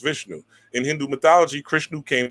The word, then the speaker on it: Vishnu: and the eighth embodiment of the god Vishnu, pronounced Vishnu.